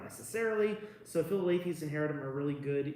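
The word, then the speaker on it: Philalethes: all, tell people what Philolaethes is and how to pronounce it. Philolaethes, the It's Philolaethes.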